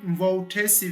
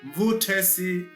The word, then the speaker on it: Mvutesi: Stop saying Mutesi village. Say Mvutesi village.